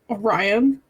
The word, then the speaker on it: Orion: Orin Palescar at your service. So I have one single clarification. Sorry, I said the name wrong. Orion Palescar. My bad. It's Orion.